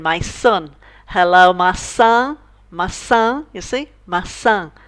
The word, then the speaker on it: maçã: Now some people have a lot of trouble trying to pronounce this word. They think it's massa, they think it's maca, but it's neither of those two. It's actually maçã, maçã, and it means apple.